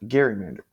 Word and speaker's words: gerrymander: similar to a dragon the original term was pronounced Gander but the soft G of gerrymandering is now common why do political parties